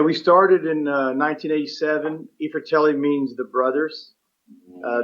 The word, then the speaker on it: i Fratelli: ifritelli means the brothers uh the eye is pronounced e because it's italian word and fratelli is plural